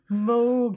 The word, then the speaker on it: Moog: But it's looking at documentaries with him and little things that he does, because he always used Moogs, but he had like Moog, pronounce it correctly.